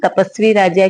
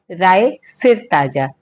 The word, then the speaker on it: राय सिर ताजा: सब पर राम तपस्वी राजा की जगह सब पर राम राय सिर ताजा। सही प्रोनाउंसिएशन ये है।